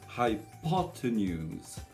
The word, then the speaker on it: hypotenuse: J'ai d'abord le son high, ensuite j'ai l'accent qui sera donc sur la deuxième syllabe, hypo. Ensuite j'ai un T avec un E à l'envers, c'est le cheval, le E muet, hypotenuse.